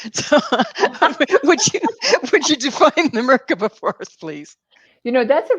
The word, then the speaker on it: Merkaba: that you do with help me with the pronunciation, the Merkaba. Mm-hmm. The Merkaba is a fifth dimensional vehicle that helps you be more fifth dimensional.